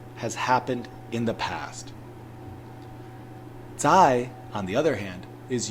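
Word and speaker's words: 再: right hand side of your screen which is pronounced Z and it also means again so yo and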